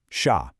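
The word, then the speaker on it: chá: It's spelled c h a with an accent, but phonetically it's incredibly simple, sha.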